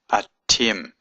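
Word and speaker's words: אַתֶּם: I use the word a Tim Aleph TAV mm it's a little seagull here and this dot here means it's a doubling of the litter hard leader Tim so that means you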